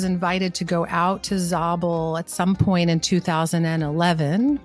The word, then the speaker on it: Zabul: know afghanistan very well will say she just mispronounced kabul right okay so there's a province called zobel not kabul zobel with a z and it's to the west